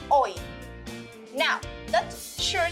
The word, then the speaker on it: hoy: Pronounce it with me. O-I, ol, I, hoy. Now, that sure sounds like a common word in Spanish. Do you remember how do you say today in Spanish? Yes, hoy.